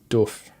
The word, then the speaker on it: doof: It's doof. Everyone in America says doof do uh how do you say it? Doof. Doof. Doof. Do. Okay. It's like a like oof.